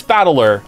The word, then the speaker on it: Battler: try the problem is my given name is made up of characters for fight and person and it's pronounced battler oh so it is battler okay Pokemon name put